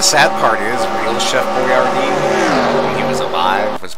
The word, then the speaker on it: Boyardee: Not actually spelled the way it is on the can. People couldn't pronounce it. It's B-O-I-A-R-D-I, but the can is B-O-I-A-R-D-E. Oh, stupid Americans could pronounce that easier.